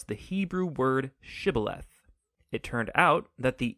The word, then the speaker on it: shibboleth: and asked everybody who wanted to cross to pronounce the hebrew word shibboleth it turned out that the ephraimites had grown up pronouncing that word differently so instead of saying shibboleth they would say sybileth when that happened the gili knight guard would